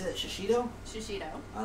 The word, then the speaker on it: shishito: use those and how do you say that shishito shishito i like that i like that this